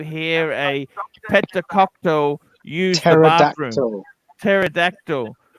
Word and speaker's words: pterodactyl: a Pentecostal you pterodactyl pterodactyl because the p is silent by the way bear